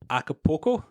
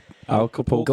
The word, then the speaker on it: Acapulco: How do I pronounce this? Acapulco? Wrong. Acapulco. Going loco down in Acapulco.